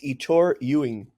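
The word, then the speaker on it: Ettore Ewen: E's full name again say it properly it's Itor Ying there we go the only by the way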